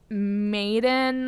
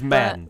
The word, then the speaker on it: Medan: I never know if it's Maiden or Medine or Medane? yeah. It's Madden.